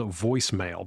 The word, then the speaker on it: Voisemail: It's called voicemail, but of course it's spelled funny.